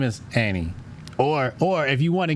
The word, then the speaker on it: Ani: No, guess how it's spelled? How? Comedic. That's interesting. ANI. Yeah, Annie.